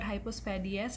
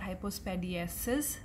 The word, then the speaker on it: hypospadias: Now remember, it is called hypospadias and not hypospadiasis, as it is commonly mispronounced.